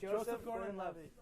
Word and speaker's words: Joseph Gordon-Levitt: See, I always say it wrong. Yeah, It's Joseph Gordon-Levitt.